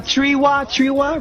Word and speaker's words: Triwa: To my grandmother, Nana Triwa, right? That's how you say it. Triwa.